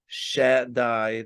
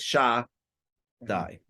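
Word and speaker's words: שדי: I'm going to say Shek Shakai. So there's different ways to say it. You can't say it in the way it's actually pronounced. So they say Shakai or Shadai. The real way is Shah Dai.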